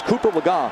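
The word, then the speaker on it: Cooper Legas: So the guy who was number 3, Cooper Lega, and yes, I know we pronounced the name earlier a different way, but it's Cooper Lega, who had never thrown a pass.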